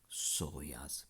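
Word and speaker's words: psoas: then latus मस Darcy सोयास piece silent है व प सोया क्वाड्रास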